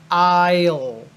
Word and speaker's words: aisle: aisle two aisles the there are a lot of letters in this word but it just sounds like almost like I l i l just like those two letters but you say them quickly and put them together I'll I'll okay so that's called